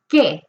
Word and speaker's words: que: Por ejemplo, for example, the word what, la palabra que. Que is Q-U-E. Que es Q-U-E. Que, k, e. No escucho la U. I don't hear the U.